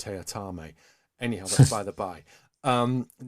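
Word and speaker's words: Teatime: also in it is a character called uh t-time only he insists it's pronounced tayatame anyhow by the bye um david warner he's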